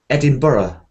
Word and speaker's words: Edinburgh: about Edinburgh is that it looks like Berg the burgers but the pronunciation is the same as burra so um sometimes we